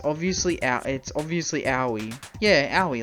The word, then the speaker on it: Aoi: Because she said the way she remembered it's Yowie. So Yowie, Aoi. That's how you pronounce it. Aoi.